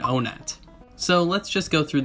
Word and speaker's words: Onett: name in the industry these three pronunciations are one at anat and onet so let's just go